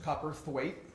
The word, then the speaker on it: Cowperthwaite: For everybody, it is pronounced Cowperthwaite. It's a tough one, so I'll just help you out there.